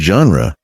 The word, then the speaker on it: genre: Z-H-A-N-ru, like the S in measure or pleasure. The trick. Think of the word genre, starting like gently, soft, not aggressive.